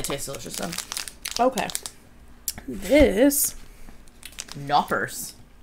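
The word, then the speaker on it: Knoppers: delicious though okay this knockers do you not pronounce the k in german no i don't think you do okay so still knockers nope but it's crispy hazelnut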